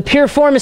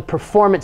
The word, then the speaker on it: piriformis: dynamic and static stretching the pureformance stretch some people mispronounce it and call it the performance stretch uh but it's named